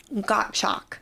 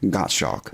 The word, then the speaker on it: Gottschalk: do you pronounce that gotchalk got shock German yeah like got milk got chalk got chalk the S is silent gotcha all right you